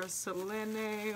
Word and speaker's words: Selene: kira selene or celine i don't really know if i should pronounce it like selena or selenae or celine because they pronounce it selena in the show but anyway here